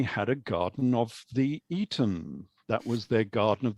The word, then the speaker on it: Aten: arton is their God it was called the arton or actually we should really pronounce it as being the Eon uh a bit like the old Public School it was the Eaton or the Eden it was spelled in